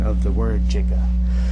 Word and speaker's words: giga: this word is a a soft G so giant gigantic you don't say oh